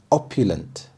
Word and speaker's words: opulent: quality that captivated everyone opulent opulent the stress is on the first syllable opulent opulent describes something